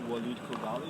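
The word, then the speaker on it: Walied Khogali: My name is Walid Kogali. It's spelled W-A-L-I-E-D.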